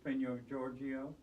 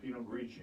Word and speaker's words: Pinot Grigio: And you give it to me to see if I can pronounce Riesling and... Riesling. There you go. Cabernet Sauvignon. Was that close? Pinot Grigio? No, Pinot Grigio.